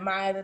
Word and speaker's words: Maiya: like they can follow me on everything at Maya make sure you spell it right it's m a i y a